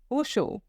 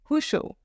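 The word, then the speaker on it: ressort: हुशो, हुशो। Okay, here, as I told you earlier, the pronunciation of R is K in French. Okay, Hosho.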